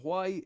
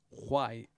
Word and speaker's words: why: I think we say over here we go why. We pronounce the H, but you guys in the States and Canada go why. And we go why, like Cool Whip and Cool Whip. Understand?